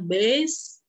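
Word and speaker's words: Bayes: Oke kita lanjut kaidah by tulisannya baines untuk bacanya best kita kejadian-kejadian B1 B2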